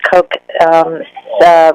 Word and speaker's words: Koch: That's Koch, rhymes with joke, but it's spelled Koch.